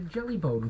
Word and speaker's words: Jellybone: And I'll say, well, I was talking to Jellybone callers. It's to rhyme with telephone.